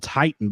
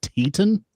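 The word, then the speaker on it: Titán: and faces a guy whose name is spelled Titan, but they called him Teton. Teton. I just want to say this about Chris. They had the little tilde above the A to put your focus on that part of the word.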